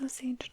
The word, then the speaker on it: Osage: I think that it's Osage Tribe. I feel like I've heard a few different pronunciations, but I think that that's kind of what I've heard the most.